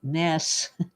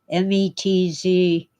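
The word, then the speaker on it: Metz: in his speech in Mets France I think they pronounce it mess Mez it's it's actually a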